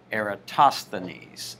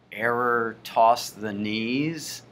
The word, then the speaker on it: Eratosthenes: sieve rhymes with give an era toss so the the accent is on toss Eratosthenes Eratosthenes error toss the knees will that help you Eratosthenes Eratosthenes okay so the knees Eratosthenes the sieve of Eratosthenes not that it matters that